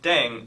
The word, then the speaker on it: 땡: The pronunciation of Ddaeng is similar to thang, which is the slang of thing in English.